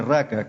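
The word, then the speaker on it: ρακά: Palabra griega que se pronuncia raca, que es rho alfa, kappa alfa.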